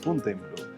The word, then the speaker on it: Fontainebleau: el tratado llamado de Fontainebleau. Fontainebleau. En la pronunciación en francés es Fontainebleau.